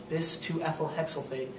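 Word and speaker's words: di(2-ethylhexyl) phthalate: parts per million of dhp which is pronounced this to ethyl hexophate but it's important because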